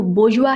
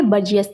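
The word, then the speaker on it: bourgeois: जी हाँ, इसका जो प्रोनाउंसिएशन है वो बोर्जुआ है, बर्जियस नहीं।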